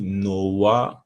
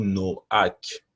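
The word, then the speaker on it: נֹחַ: le patriarche en hébreu le monde de noé se dit noah ou noack voyez ici noack donc c'est la prononciation en hébreu mais ça signifie le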